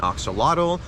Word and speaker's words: axolotl: For instance, my family's from Mexico, so there's one animal I really like to talk about called an axolotl or ajolote or axolot, depending how you pronounce it.